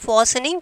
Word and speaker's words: fastening: In this talking, L is silent, fastening, T is silent.